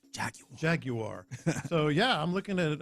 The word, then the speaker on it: Jaguar: No, you got to say it like they say it in Britain. Jaguar.